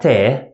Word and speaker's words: ت: It's exactly English T sound, T. Here, it represents the soft pattern, T. And whenever we pronounce a soft pattern sound, we always smile. T. Look at my mouth. T. T.